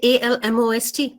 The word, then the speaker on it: almost: know like charity uh but if I say a l m o St now this is almost see so guidelines not